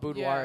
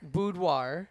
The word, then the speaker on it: boudoir: Start like I didn't know that it was called boudoir at the time. Boudoir. Yeah. You're not even saying it right. I ain't gonna even try. Boudoir. It's fine. It's a French word.